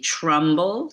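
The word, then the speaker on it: Trumbull: So, here's his name is spelled Turnball, but as I mentioned, sometimes his name is said to be Trumble. T R U M B U L L.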